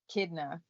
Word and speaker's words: Kidna: Dr chidna Dr kidna kidna yeah because that's like basically Echidna but without the air oh okay yeah that's